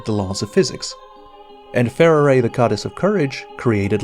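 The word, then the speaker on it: Farore: pronunciation of fair array I am not calling Pharaoh array pharah in Japanese they pronounce her name using three syllables and if it's good enough for the Japanese it's good enough for me so for the duration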